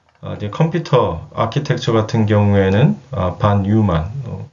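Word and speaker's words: von Neumann: 이제 컴퓨터 아키텍처 같은 경우에는 반 뉴만, 보통 폰 노이만이라고도 많이 발음을 합니다.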